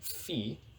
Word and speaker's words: phi: like this letter here this is a fee right so you want to pronounce this as phi and this is a